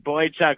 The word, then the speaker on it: Boychuk: So I just kept thinking about Boychuk and how someone out here looks like him. And that one just kind of came to be like, Boychuk rhymes with puck.